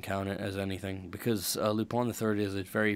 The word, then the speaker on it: Lupin: I used to pronounce it Lupin for a while, but it's actually Lupin. That way, it's a French name.